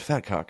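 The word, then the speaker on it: vetkoek: what we have around here it's it's called fatcock and I was like oh brag keep bragging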